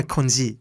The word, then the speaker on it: congee: Congee. Yes, it's a How do you pronounce? Cantonese word though, isn't it? Yeah, konji.